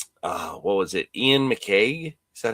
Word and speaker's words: McCaig: Ian McCaig? Is that how you say it? Yes, it was Ian McCaig.